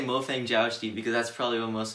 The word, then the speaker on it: Mofang Jiaoshi: which most people say mo fang jiaoshi is like really americanized way to pronounce chinese um but yeah them i'll just say mo fang jiaozhi because that's probably what